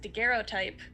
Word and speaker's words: daguerreotype: i did go check with the internet it's pronounced daguerreotype so that's what it is y'all um it